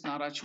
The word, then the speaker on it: Naracha: So let us see what is this Naracha mudra. The pronunciation of it is Na-Racha. Na-Racha.